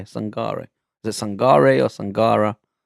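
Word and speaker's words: Sangaré: It is Sangara, right? Or am I saying it wrong? Yeah, Sangare.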